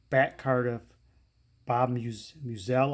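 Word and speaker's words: Meusel: card of bob muse muselle i believe is pronounced me musel um if you don't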